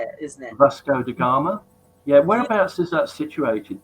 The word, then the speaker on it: Vasco da Gama: Vasco da Gama.